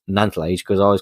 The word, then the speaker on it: Nantlle: But I did look up how to pronounce Nantlle Ridge, because I always called it the Nantlle Ridge.